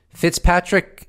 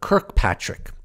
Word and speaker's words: Kirkpatrick: So right off the bat, I will say that Senator Gillibrand was pronouncing the director of Aero's name incorrectly as Fitzpatrick. It's actually Dr. Kirkpatrick.